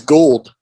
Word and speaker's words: Gould: There's a happy medium of Gould and gold, and you just try to slam them together, and then you get his name right.